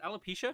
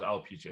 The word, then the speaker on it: alopecia: public for years about her out is it alopecia is that the correct way to pronounce it yeah alopecia to my knowledge and and how she struggled